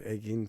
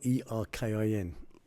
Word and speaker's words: Erkin: how it's pronounced in Turkish. So it went from Erkin to Egin to. Right. And it's spelled E-R-K-I-N. Right. So it's pronounced Erkin. So it was either or Erkin the Gherkin.